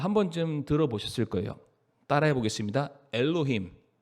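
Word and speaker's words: אֱלֹהִים: 단어가 우리는 번역해서 하나님이를 읽지만 원래 이것이 히브리어로 뭐라고 읽냐 아마 한번쯤 들어보셨을 거예요 따라해 보겠습니다 엘로힘 엘로힘 예 한번 들어보셨죠 하나님인데 엘로힘의 하나님이다 근데이 엘로힘이이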